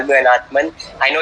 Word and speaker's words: Anãtman: to this name but you can call me an Earthman I know it's a sensitive with what people